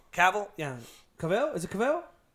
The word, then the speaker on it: Cavill: I can never pronounce his name. Henry Cavill. Cavill? Yeah. Cavill? Is it Cavill? It's Cavill.